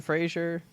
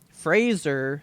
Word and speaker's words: Fraser: gotta say Jonah Brendan Frazier Fraser sorry he stated that in an interview I watched yesterday he said Fraser rhymes with razor and I went got